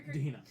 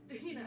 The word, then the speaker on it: Tahina: Technically, Black Opal and like the pronunciation of your Dahina. Tahina. I thought it was Or Tahina. Right.